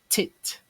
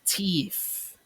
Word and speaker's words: teeth: Teeth as in tit. Tit. But it's actually teeth.